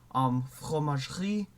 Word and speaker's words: fromagerie: So a lot of words they will have an E like enjammed in the middle of it, and you don't say it. So like épicerie, fromagerie. I over stress my R's. Please ignore that. Épicerie, horlogerie. You just don't pronounce the E.